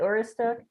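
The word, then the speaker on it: Aroostook: I think is it Oristook? Oh, there you go. Yeah. Is she pronouncing it correctly? I probably said it. I butchered it. Yeah. No, you're fine.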